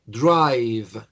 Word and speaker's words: drive: Si pronuncio bien, debo tratar de terminar en un sonido V. Que yo repito, el sonido V es el labiecito inferior contra los dientes superiores. Y hay una vibración.